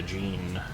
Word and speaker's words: Jean: Takes me a second to catch that J as a Jean. Like a pair of jeans.